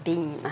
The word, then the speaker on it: Biehn: You do pronounce it Biehn. It's Biehn, yeah. Yeah, as in... I can't have beans.